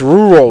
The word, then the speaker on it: rural: I'm painfully aware of my many flaws, like being impatient, impulsive, running a YouTube channel, and pronouncing rule. Ral R. It's rural.